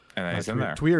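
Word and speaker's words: Týr: like i wonder when twitter's going to show up or tear however you want to pronounce it tweer is the traditional and now he's in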